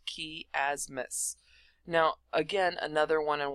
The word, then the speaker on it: chiasmus: gonna cover is chiasmus I know it has a CH but it still pronounced key asmath now again another one